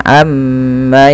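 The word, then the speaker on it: عَمَّ: jangan kita langsung baca Amma yatasaalun tapi tahan dahulu gunahnya atau bunyi suara mimnya sepanjang dua harakat Amma baru dilepaskan Amma yatasaalun kemudian PSA di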